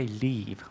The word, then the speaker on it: leave: 근데 그런 live하고 또 떠나다 할 때 leave. When do you leave? 그러면은 모음이 약간 더 길어지면서 이 발음이 좀 더 길게 명확하게 나죠. 이 leave의 스펠링은 L-E-A-V-E거든요.